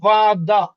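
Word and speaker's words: вода: ও যদি স্ট্রেস বা জোরে উচ্চারণের ভিতরে একসাথে থাকে তাইলে ওর মতনই উচ্চারণ হবে। বাট যদি ও স্ট্রেসের মধ্যে না থাকে তাইলে আমাদের ওর উচ্চারণ কি হবে? আর মতন হবে। এই কারণে কিন্তু এখানে এখানে হইছে বাদা। এখানে হইছে বাদা। এখানে ওটা আর মতন উচ্চারণ হইছে।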